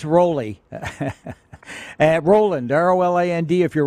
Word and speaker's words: Roly: girls tonight and and how do you say your name rolly rolly what's the proper way because everybody wants to know if you're South of the Border it's because they tend to change the vowel or something